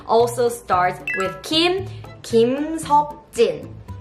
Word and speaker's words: Kim Seokjin: So the next member's name also starts with Kim, Kim Seokjin. Kim Seokjin.